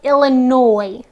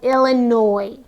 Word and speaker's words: Illinois: is the state of Illinois now I know it looks like we have the word noise-like sound but the S is silent so Abraham Lincoln is from the state of Illinois and the last word